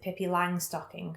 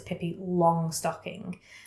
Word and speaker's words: Pippi Longstocking: Me and my family have always pronounced it Pippi Langstocking, but I think people around here would know it's Pippi Longstocking. Don't ask me why it's been Langstocking. I don't know if it's the German pronunciation or what.